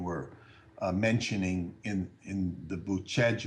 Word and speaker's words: Bucegi: mentioning in in the boot Chege mountains is how you say it but Chad felt bootleg